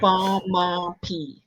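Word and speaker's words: baamaapii: And you know what it's spelled? Bamaappii. Oh, P-I-I. Okay. Bamapi.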